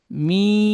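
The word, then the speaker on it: ميم: পড়তে হবে পরের অক্ষর মিম মিম অক্ষরটি তিন আলিফ টান দিয়ে পড়বো।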